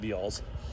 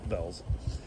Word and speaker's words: Bealls: like to call it Bealls. My wife and I were arguing about how it's spelled and clearly I know it's said Bells. It's how they pronounce it.